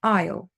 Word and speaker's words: isle: not Castle Island okay the S is silent Isle Island then we have